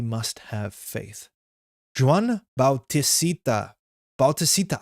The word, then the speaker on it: Bautista: Bautista. I say it that many syllables.